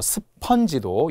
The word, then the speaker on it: 스펀지: 컨테이너 또 스펀지도 예전에는 그 무슨 애니메이션 스펀지밥이라는게 있었어요. 스펀지밥 그것은 애니메이션일 뿐이지 실제 맞는게 아니라는 거예요. 스펀지 어로 발음합니다.